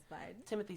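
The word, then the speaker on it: Timothée: press tour yeah so he was explaining in it it is timot yeah but he's not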